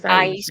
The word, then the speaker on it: Aisha: Aisha, is that how we say her name? Aisha. It's Aisha. Aisha.